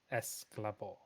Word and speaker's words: Esclabor: Just in case there was any confusion around the pronunciation and spelling, it's not anything like Excalibur, but it's Esclabor.